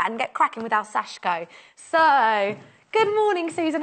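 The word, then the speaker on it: 刺し子: people think so chic oh but it is pronounced sashko it's pronounced sashko it means little staff or little Pierce and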